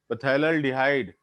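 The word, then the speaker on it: phthalaldehyde: और इसका common name हो जाएगा PTHALDEHYDE, पैथैल डिहाइड। पी साइलेंट हो जाएगा, थैलल डिहाइड हो जाएगा।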